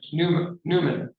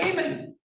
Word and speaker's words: Naaman: the right pronunciation, but I think it's Newman, right? Is it Newman? Newman. Your Honor. I was right, Naaman. I wrote it down wrong. I said it right the first time.